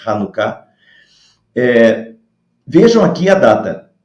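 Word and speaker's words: Hanukkah: se escreve com h às vezes se escreve com ch por causa da pronúncia do hebraico é hanuká eh vejam aqui a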